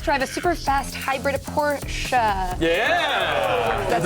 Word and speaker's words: Porsche: Camaro and test drive a super fast hybrid Porsche. Yeah! That's how you say it. That is. Won't make it any bigger, but you pronounced it right. Porsche.